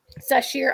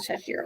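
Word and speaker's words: Sasheer: I said I would pronounce it Sashir. Sashir. I pronounce it Sashir also, yes.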